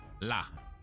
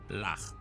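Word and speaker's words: הלך: So the shawa is at the end of the word, which means it is silent. So your chaf goes ch. So the silent shawa is not going to make any sound. So this is just going to be, so lach, lach, ha, lach.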